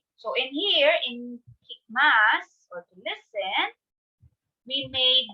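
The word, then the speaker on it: ます: as this once again yes all right next mass i know you've heard me pronounce this in ohio busan max and what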